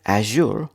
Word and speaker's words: azure: from others day 27 today's word Azure Azure Azure Azure two syllables Azure Azure Azure is